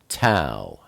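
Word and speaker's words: tav: to the final oat TOA TOA is the number 400 and it's pronounced like a t like time it's the picture of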